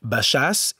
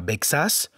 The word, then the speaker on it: Baixas: Le son écrit CH en français s'écrit en catalan X ou IX. Nous prononcerons donc Baixas et pas Bexas, Marquixanes et Sant Miquel de Cuixà.